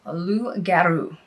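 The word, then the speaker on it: loup-garou: name to the rugaru in French it is pronounced luu okay so I'm just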